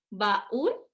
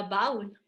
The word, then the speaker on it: baúl: Baúl, no decimos baúl, ¿o sí? Si no tuviera acento esa U, sería baúl, pero resulta que sí, la palabra como tal, para referirnos a ese cofre, es baúl. Y aquí sí hay una y dos sílabas. La U tiene un acento, ¿sale? Como nosotros lo pronunciamos así, se le pone acentito.